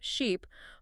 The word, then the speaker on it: sheep: Teachers will read minimal pairs back to back. Ship, sheep, ship, sheep. Forcing the students brain to finally register the subtle acoustic shift.